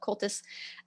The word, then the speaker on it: Comhaltas: It's Comhaltas, how you spell it, Cultus.